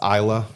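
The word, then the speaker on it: Islay: of well-known ones is ISA it's i l a y pronounced Isa it's an island off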